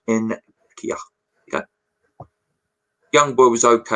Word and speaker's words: Nketiah: Apparently it is pronounced Nketiah.